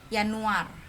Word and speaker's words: Januar: Terus di sini Januar. Ingat ya, J itu dibacanya Y.